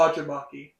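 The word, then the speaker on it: Fagerbakke: how do you pronounce Patrick's last name? Bill Fodgerbaki.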